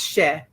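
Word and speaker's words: cher: So the first word is c h e r she and it is just a term of endearment just means sweetie or dear heart or my darling one. It's she somebody some people say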